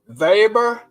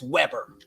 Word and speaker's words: Weber: great summer read um vber I think it's pronounced vber now I you know